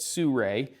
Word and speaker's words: Sirui: what those are so sue Rae spelled Si are you i but sue Rae I have been told is the correct pronunciation is a company that